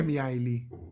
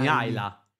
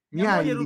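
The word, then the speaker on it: Mihăilă: Chi è Miaili? Miala. Ma come Miaili? Miaila. Non ma, so, ma non gioca neanche Miaila. Miaila si pronuncia così e poi mi correggete rumeno.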